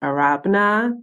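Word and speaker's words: Arabena: underscore uh a-r-a-b-e-n-a in if you're wondering it's pronounced arabana that is my like traditional African name it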